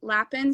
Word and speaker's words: lapin: So my Instagram is Lapin Studios. That's not how you say it in French, but it's how we say it in America, I guess.